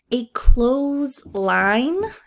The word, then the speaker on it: clothesline: We can also see a clothesline. Notice the pronunciation for this word is very similar to just close the door.